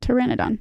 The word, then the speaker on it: Pteranodon: No, it's the P is silent like pterodactyl.